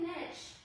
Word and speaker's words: niche: Or like, my favorite one is when it's like, oh, pick a niche. Niche rhymes with bitch.